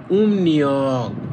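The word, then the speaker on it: 음력: রিয়ক তাহলে দেখেন মিউম এর পরে যদি রিউল থাকে তখন রিউলের উচ্চারণ হয় নিউ তাহলে হবে উম নিয়ক মানে চন্দ্র ক্যালেন্ডার বা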